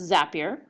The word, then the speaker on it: Zapier: Calendar well that's the really cool thing called zapier so um it's pronounced zapier and it's it's a little it's a little